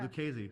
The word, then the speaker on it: Lucchese: Lucchese. Rhymes with crazy.